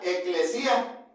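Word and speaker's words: ἐκκλησία: La palabra y esta palabra iglesia e en griego se pronuncia eclesía y significa los llamados fuera.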